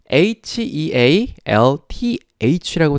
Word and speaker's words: health: 그 말인즉슨 hea에서 a의 발음이 탈락된다는 말이에요. 그냥 e만 있다고 생각하시고 health라고 발음하시면 되겠습니다.